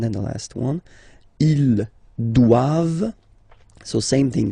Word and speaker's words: doivent: Ils doivent. So same thing, classic ending for the plural form. ENT here. Okay, but then you don't pronounce it.